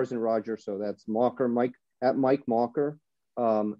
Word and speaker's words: Makher: in Erica R is in Roger so that's mocker Mike at Mike marer um you can reach